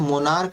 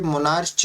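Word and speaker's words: monarch: तो जब आप मोनार्क का पढ़ रहे हो, इसे मोनार्च नहीं पढ़ सकते, मोनार्च पढ़ोगे तो क्या हो जाएगा, उच्चारण में आपका गलती हो जाएगा।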